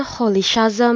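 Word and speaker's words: Rolihlahla: Muita gente acaba falando Nelson Hollyhamma Mandela. Eu prefiro Rama, Nelson Mandela e eu acho que tô pronunciando o primeiro nome um pouco errado. Vai tá aqui um audiozinho onde pronúncia o nome certinho dele.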